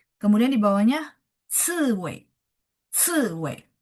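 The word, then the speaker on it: 刺猬: Kemudian di bawahnya ciwei, ciwei. CI ya nada empat, ci, ciwei, landak.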